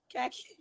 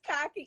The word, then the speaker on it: khaki: The word khaki, like the color khaki. I said khaki. It's cocky, and I'm arguing this boy down, back and forth. I went home and told